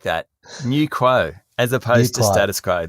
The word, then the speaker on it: Quo: Is that right pronunciation? QUO, Quo Index?